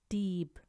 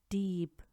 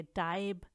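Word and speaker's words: Dieb: आप नोट करें कि इनको अगर आप इनकी तरह प्रोनाउंस करेंगे जैसे कि डाइब, स्पाइलसॉइग, लाइबन या लाइगन तो ये गलत होगा।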